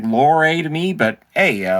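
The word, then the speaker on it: Lohrei: It looks like Lowry to me, but hey, Lowry, I'll say Lowry because that's how they pronounced it.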